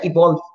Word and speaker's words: Evolve: Se pronuncia evolve. Se llama evolve.